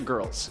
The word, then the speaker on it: Grrls: On top of his odd singing career, Johnny leads a little gang known as the Geisha Girls. That's spelled Grrls, like girls.